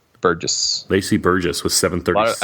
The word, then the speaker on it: Burgess: Burgess. Lacey Burgess with 736. I think a lot of people say bourgeois, but just looking at the pronunciation, I don't believe that that's how it's pronounced.